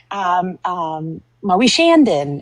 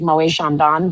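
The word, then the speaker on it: Moët & Chandon: And they're like talking about Moe Shandon. And it's like Moe Chandon, but they like don't know how to say it. So they like call it Moe Shandon.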